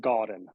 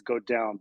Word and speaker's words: Gaudin: I pronounce it Gordon. It's French originally. There's another way to say it in French, which is go down, but I'll make people go that far.